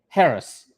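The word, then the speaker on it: Haris: It's Harris His or is am I pronouncing it correctly? Harris.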